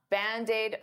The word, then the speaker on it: Band-Aid: Band-Aid is 2 words, but to pronounce them like one, I'll take that D and transfer it to the vowel.